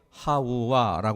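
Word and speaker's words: חַוָּה: 하와라는 말을 한번 살펴보면 하와라 하는 말은 히브리어 하우와 하는 말을 우리말 음역으로 바꾼 거예요 그러니까 히브리어 이렇게 생각하셔도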